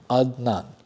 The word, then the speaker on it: Adnan: Which is odd because it's a simple name. Adnan. Very simple. It's two syllables. Adnan.